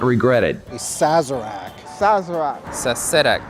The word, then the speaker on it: Sazerac: the invitation you will not regret it a sazerac sazera sac sazerac sazerac it's a great drink it's also a great